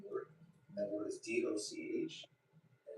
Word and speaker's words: doch: And that word is DOCH, and it's pronounced dog, which means like no, you're effing wrong.